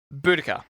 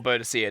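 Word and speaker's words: Boudica: Buudaca or Bodisa, depending how you decide to pronounce it.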